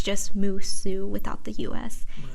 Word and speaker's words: Musou: despite how it's spelled it's supposed to be pronounced musu us like us like USA yes but musu